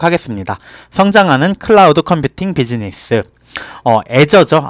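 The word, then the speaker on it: Azure: 성장하는 클라우드 컴퓨팅 비즈니스 애저죠 아주르라고 읽었는데 애저죠 클라우드 컴퓨팅 플랫폼 애저는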